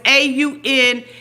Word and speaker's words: AUNTEA: No, it's AUNTEA. Like T. Not tie.